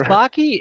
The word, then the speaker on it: Backe: Is it Baky or It's Baky. It's It's Baky and it rhymes with Haki.